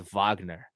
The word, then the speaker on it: Wagner: but mainly Mo vogner which is spelt Wagner but he's German so it's vogner he's from the Deutschland